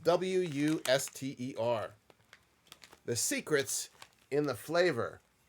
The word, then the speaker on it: Worcester: And it's spelled like you would think Worcester sauce would be spelled. Not like how it's spelled Not on the packaging. Worcestershire or something like that. This is just Wuster.